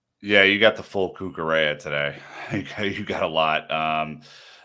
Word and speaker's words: Cucurella: Marc Cucurella, rhymes with Estrella, had an opportunity to pop into the game as well.